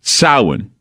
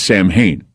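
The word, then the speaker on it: Samhain: for vampires it's it's concurrent with what goes on with sin or what most people mispronounce as Sam Hayne and then there's IMU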